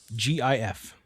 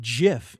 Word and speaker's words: GIF: The G is soft, confirmed by the inventor itself, Stephen Wilhite. It is not gif with a hard It's not gif with a hard G. It is gif.